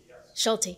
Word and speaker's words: Schulte: Robert Schulte from Ace and I hope I pronounced that correct Schulte yes wonderful thanks for being with us good